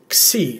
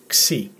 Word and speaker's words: Xi: It's the letter Xi, as in taxi, Xi.